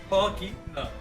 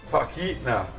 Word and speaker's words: Talkeetna: Talkeetna. Talkeetna. The first Motherfucker.